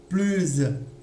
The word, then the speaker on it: plus: Mais ce qu'il faut retenir, c'est que s'il y a une consonne, d'accord, comme dans ce cas-là, on ne prononce pas. Quand il y a une voyelle, on prononce, d'accord, mais en faisant la liaison, et ça sera avec le son Z, d'accord?